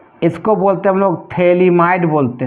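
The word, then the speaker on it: phthalimide: एक बता रहे हैं थली माइड रिएक्शन गेब्रियल थलीमा बहुत इंपोर्टेंट है डिंग दो Gabriel Gabriel थेली might थेली might reaction इससे बेटा पीएच होता है साइलेंट होता है गेब्रियल थलीमा इड रिएक्शन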